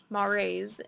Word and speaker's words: mores: culture consists of the norms beliefs values and mores shared by members of the deaf community the word mores is pronounced mores is a noun it means the essential characters